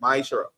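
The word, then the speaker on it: מעשר: Means tenth in the Hebrew and is pronounced ma'ishara.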